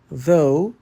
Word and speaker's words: though: Though e tough são visualmente quase idênticas, mas soam como se viessem de planetas diferentes. Thembora o GH é 100% mudo e o som é um O limpo and tough difícil, o